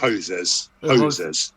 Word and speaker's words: Hosers: That's the right pronunciation, right? Hosers.